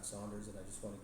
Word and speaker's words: Saunders: And Saunders, some people say Sanders, but it's actually Saunders with a U.